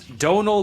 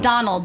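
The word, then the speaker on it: Domhnall: saying that gaic says the m and the H is silent so it's Donal gleon is how you not Donald Don the Revenant we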